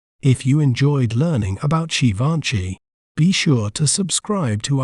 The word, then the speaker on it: Givenchy: We may pronounce it as Givenchy, Givenchy, G, Fan, She, Givenchy.